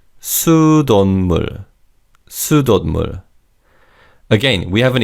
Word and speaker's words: 수돗물: Also, in terms of pronunciation, in fast speech, the 시옷 받침 in the second syllable is almost silent. So it's 수돗물, 수돗물.